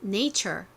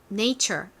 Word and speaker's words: nature: T, U, R, E가 합쳐져서 chur 발음이 납니다. 같이 적어볼게요. 펜 들어주세요. N, A, 그 다음에 chur, T, U, R, E. 따라해보세요. 자연, nature. 한 번 더 해볼게요. nature.